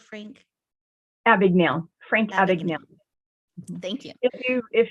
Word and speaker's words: Abagnale: of the Frank Advocate can you help me pronounce that word Frank yeah big nail Frank Abagnale thank you if you if you've seen the